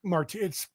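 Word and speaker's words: Maarten: We got the same Martin, M-A-A-R. How do you, that's how it's spelled? Yeah, it's Martin. It's Martin.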